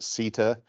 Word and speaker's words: SITA: SITA, some people pronounce it CETA, is a company that originated really in Europe, but has coverage in North America and elsewhere.